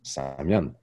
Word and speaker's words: Samian: de naissance c'est Samuel, mais y a pas de L et il y a pas de U en algonquin, donc ça se prononce «Samian». Donc c'est pas un nom d'artiste, c'est pas un nom de scène, c'est pas... Non! C'est juste qu'un Algonquin qui veut prononcer "Samuel" va prononcer "Samian".